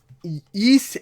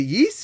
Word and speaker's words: Ys: yeah maybe one day east eight is a yeast or East I've heard it to pronounce the EES I'll say YZ YZ 8 luck from lacrimosa